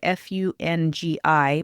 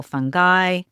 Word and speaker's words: fungi: Some people say fungi, others fungi, some people fungi. When I was in medical school, our microbiology professor explained it this way. He was a fun guy. And the plural of fungus is fungi.